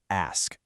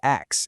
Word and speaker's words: ask: The word ask. For some reason, it's super common to flip those last two sounds and say X instead. The fix is just to slow down for a second and think about it.